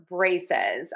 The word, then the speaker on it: braces: So, two syllables, stressed syllable number one. Braces. Braces. Braces. Braces. Braces. Stress syllable one, brae, and don't forget the Z in syllable number two.